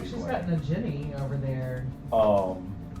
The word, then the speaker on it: Nagini: got Nagini over there. The Ginny? Hard G, Wendy.